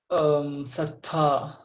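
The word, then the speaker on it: ศรัทธา: Sattha. So this is there a one more hidden consonant in between No, it's which you are it's not two, pronouncing? yeah, it's two sound. It's sattha. So I think if you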